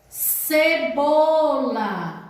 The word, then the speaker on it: cebola: Cebola. Cebola é escrito com C. Observe, C é C. Já tem o som do S, não precisa do cedilha.